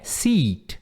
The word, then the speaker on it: seat: Isso aqui é seat. Aí é um I longo.